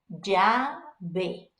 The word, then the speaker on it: llave: Main thing is it's not an L sound, right? So again, I'm like middle of the ground, so I go ja, j, ji, jo, ju. If you like the softer sound, then it's ya, ye, yi, yo, you.